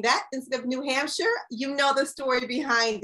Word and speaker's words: New Hampshire: blueprinted and thinking that the way i would pronounce the state that you're in was new hamster okay new hampshire i thought that was how i pronounced it